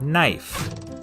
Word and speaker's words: knife: is in the word knife in middle english it was pronounced kneef but after the vowel shift the k became silent